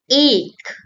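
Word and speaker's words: एक: The first one, ache, ache. Do you hear A or A?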